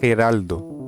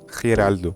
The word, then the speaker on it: Geraldo: Então, GE e GI tem um som de 2 R's. É como se fosse a mesma pronúncia do R inicial em português ou os 2 R's, como em roupa, rua, carro, cigarra, tá? Porém, ele é um pouquinho mais forte às vezes. Então, letra G, como em gimnásio. E um nome, por exemplo, seria Geraldo, tá? Geraldo. Então, G, Ri.